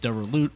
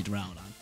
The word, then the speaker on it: Duraludon: Final Pokemon on the squad is the boy, the one and only DURALUDON, or some other people pronounce it DURALUT or DURALUDON. I say DURALUDON.